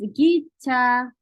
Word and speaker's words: 기차: And next is 기차. 기차 is train. And when you pronounce wrong, and when you say 기자 is reporter. Or yes, news who write news, right?